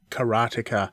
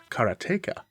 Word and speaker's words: Karateka: First up, what is Karateka, or Karateka, as it's supposed to be pronounced?